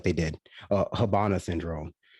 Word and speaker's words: Havana: i mean it seems like they did uh habana syndrome habana habana that's how it's pronounced i've heard people pronounce it havana syndrome but it's actually hub syndrome what about